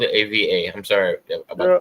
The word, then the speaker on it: Ava: Yeah, I spelled it AVA. I'm sorry about the pronunciation.